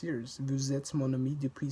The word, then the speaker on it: mon ami: The N from mon links to ami. Mon ami.